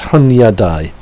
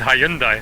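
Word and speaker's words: Hunyadi: I might not have said it right, it's Hunyadai. Okay. You said Hyundai, and I'm I like, did, yeah, no, it's me, it's Hunyadai.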